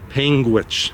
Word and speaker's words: Panguitch: I was asking her if I was pronouncing things like a Utah, like Panguitch, and she said I got that correct.